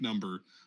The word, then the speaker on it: Numba: yes yes it is you pronounce it like number um just with an at the end uh yeah so let's